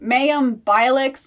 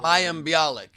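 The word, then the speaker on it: Mayim Bialik: to pronounce her name mayhem bilix new character wilted who what blossom instead of blossom and it's mayam bialik she's the new host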